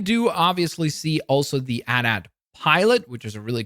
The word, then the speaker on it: AT-AT: We have the AT-AT here, and yes, I know some people say AT-AT. I always pronounce it as AT-AT.